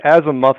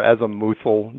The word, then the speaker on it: azimuthal: It's either the azimuthal or azimuthal, depending on how you want to pronounce it.